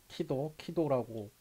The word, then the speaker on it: KEEDO: 근데 이제 우리 중국 친구들이 제 이름을 치더라고 부를 때도 있긴 하지만 한국어로 부를 때 덕 발음을 잘 못해요. 그래서 제 이름을 이렇게 완벽하게 잘 못 읽고 키도라고 부르더라고요.